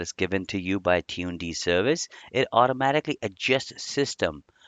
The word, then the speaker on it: tuned: Tune D pronounced as tune and D at the end. Tune is for system tuning and D is for demon.